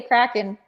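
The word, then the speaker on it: craiceann: i'd have to say kraken um okay i'll spell that word for you because it looks nothing like it sounds in case you know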